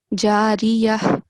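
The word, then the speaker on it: جارية: But when you take a pause, make sure that you clearly pronounce the sound of ha. So jariyah instead of jariyah, jariyah.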